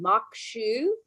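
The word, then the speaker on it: maque choux: I'm going to say this wrong. Makshu. That's right. No, you said it right.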